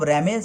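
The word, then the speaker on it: RAM: R capital R এ এম আমরা লিখব, র্যাম উচ্চারণ করব, র্যান্ডম অ্যাক্সেস মেমোরি।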